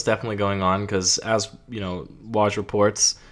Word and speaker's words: Woj: Yeah, well, something was definitely going on because, as Woj reports, is that how you pronounce it? WJ? Woj? Woj. Yeah.